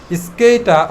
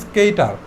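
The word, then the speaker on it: skater: তাহলে এখানে লাস্টের যে আটা আছে এই আটা কিন্তু উচ্চারিত হয় নাই, বা তুমি চাইলে উচ্চারণ করতেও পারো, দুইটাই রাইট। স্কেইটা অথবা স্কেইটার।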